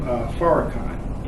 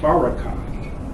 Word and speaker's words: Farrakhan: But the name Farrakhan has 3 syllables, and it ends with Khan.